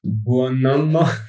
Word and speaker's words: Buonomo: Buonomo, as you pronounced it formidably at the beginning of the show on GitHub.